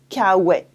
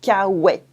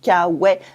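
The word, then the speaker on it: K-Way: American and made it cow way to sound American but no one pronounced it in an American Way cow wet in French cow wet so this is where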